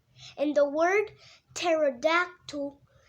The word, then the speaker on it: pterodactyl: a flying reptile, a pterodactyl. In the word pterodactyl, there is a P at the beginning, but the P is silent.